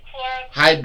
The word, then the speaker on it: hydroxychloroquine: The chloroquine, hydrochloride, or whatever the Hydroxychloroquine. How did you pronounce that? Pronounce that for us. I thought it was hydroxychloroquine.